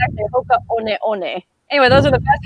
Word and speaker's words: Hoka One One: but I just recently found out I was pronouncing it wrong because I called them my Hoka 1-1 boots. Come to find out, it's actually Hoka One One.